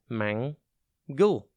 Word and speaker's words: mangle: It is pronounced mangle, and it is spelt M-A-N-G-L-E. Think man and then gull.